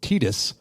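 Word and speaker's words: Tidus: Star Wars the Force Unleashed nope it was uh the voice of apparently its name is pronounced Titus from Final Fantasy 10.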